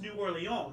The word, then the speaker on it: New Orleans: you know New Orleans yeah it's actually correctly pronounced new oron because there is an oron in France yeah